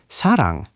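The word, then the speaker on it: 사랑: Sa, S is sa, a is a, sa. And rang, r is r at the beginning, a is a, ng is ng at the end, rang, sarang.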